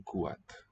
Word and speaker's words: kuat: You have no consonant between vowels too, as in kuat. Still two syllables.